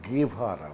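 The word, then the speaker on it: Guevara: যে মারা গেলেন আচ্ছা ওর উচ্চারণটা কিন্তু গেভারা মানে ওই যে কিছু মনে করেন না পন্ডিতই করছি না মানে স্বাভাবিক এটা না জানারই কথা সাধারণত ওই জি এরপর যদি ই থাকে তাহলে ওটা স্প্যানিশে কাস্টালিয়ান স্প্যানিশে খে হয়ে যায়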